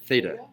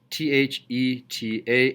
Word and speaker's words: theta: finally did it hitting Direction theta this is pronounced and I'll write it up here theta th ETA and it's up there behind you it's a